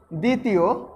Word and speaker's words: দ্বিতীয়: ও দ্বিতীয় দ্বিতীয় দ্বিতীয় তাহলে দেখো দ্বিতীয়র দর সাথে বটার কিন্তু উচ্চারণ হয় না এবং আমরা কখনোই দ্বিতীয় উচ্চারণ করতে গেলে ব এর উচ্চারণ করি না তারপর আবার লিখতে পারি